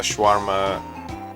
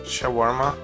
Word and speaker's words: shawarma: not a sandwich I also had a a schwarma uh sha how do you say that shawarma chicken wrap that was pretty good yeah that's